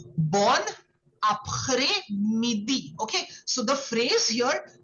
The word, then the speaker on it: après-midi: Okay, so here the S is silent. So you won't say après, it will be après.